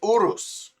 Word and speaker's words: Urus: Lamborghini Urus. That is the proper pronunciation.